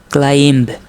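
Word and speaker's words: climb: তাহলে এখানে দেখেন সি এল আই এমবি উচ্চারণ কি হবে? ক্লাইম। এখানে কয়ল ইংরেজি কি? কয়লার ইংরেজি হচ্ছে সি এল। তারপর আইতে কি হবে? আই। আর এমবি সমান কি হবে? ম। আবার দেখেন এখানে এস আই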